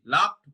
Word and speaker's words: loved: ঠিক আছে, উই আর লাভড, LOVED, লাভড উচ্চারণটা লাভড হবে, উই আর লাভড by them.